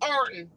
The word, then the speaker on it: Ironton: We are in Ironton, Ohio. And if you're from here, it'd be pronounced Arton.